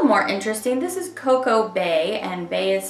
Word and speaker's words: Bae: This is Coco Bae, and Bae is spelled B-A-E.